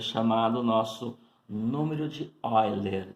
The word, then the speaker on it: Euler: Então, isso aqui é chamado nosso número de Euler. Escreve-se Euler, porém pronuncia-se Euler.